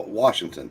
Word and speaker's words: Washington: Oh, Washington. No R.